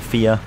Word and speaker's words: Fia: Goodbye, Fee. Or Fia, I should say. I need to pronounce it correctly, remember, otherwise the chat will get tilted.